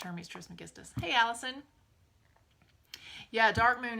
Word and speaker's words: Hermes Trismegistus: Hermes Trismegistus, the legendary sage, mage, god of ancient Egypt / Greece / all of the Hermetic philosophies is pronounced Hermes Trismegistus.